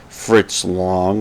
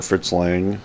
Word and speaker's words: Fritz Lang: Directed by Fritz Lang or Fritz Lang. I prefer to pronounce both ways.